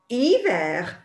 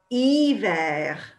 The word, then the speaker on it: hiver: Well, actually, in French, the French people, even though they have letter H in their alphabet, they can't say it. So the word is hiver, hiver. Okay, which, well, it sounds like it starts with a vowel because the H is there, but they don't sound it.